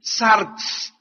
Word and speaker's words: sarx: La palabra carne es una palabra griega que se escribe sarx, S de Samuel A-R-X, sarx.